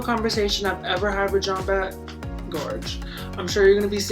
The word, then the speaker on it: Jambette: I used to think her name was like Jambé, but it's not. So Jambette, you can pronounce it